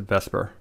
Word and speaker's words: VSEPR: spelt visepr but that sounds silly so we pronounce it vesper vesper is an acronym and it actually contains